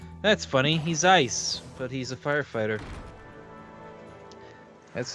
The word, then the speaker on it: Eis: his mind actually wait this is not ellis how do you say this eis east e-i-s e-i-s we're gonna look this up uh name germanic personal name iso from issa ice oh it's ice ice that's funny he's ice